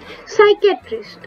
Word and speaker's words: psychiatrist: health is created by psychiatrist okay psychic stress spelling you can see here on the side psychet we not call it a skytress the p is silent in the psychiatrist towards okay so the